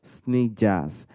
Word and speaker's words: Sneijders: His name is Sneijders. Mr. how are you doing, sir? I'm doing great, and I appreciate your challenge to pronounce my last name. It's Dutch. It's Sneijders officially, but just like your last name, Temitopo, uh, Temitope.